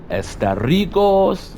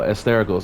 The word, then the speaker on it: Asterigos: to you all about estaricos no Esther goes that's how you actually pronounce it but um this is